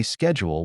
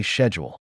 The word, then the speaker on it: schedule: Americans say schedule with a hard SK, while Brits often say schedule.